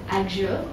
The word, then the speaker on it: Axure: So as far as I can tell, there's two ways of saying it. There's the fancy way, which is Axure, and there is the other way, which is Axure.